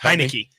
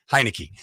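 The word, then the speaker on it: Heinicke: yeah uh but Taylor I never known how to say his name because it looks like Heineken yes hi Nikki heinecke uh and Joe Flacco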